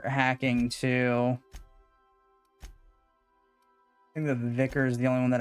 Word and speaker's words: vicar: so I think we're gonna run pervadi and the vicar yes that's how they pronounce it on in this game not vikar uh Northern model irritation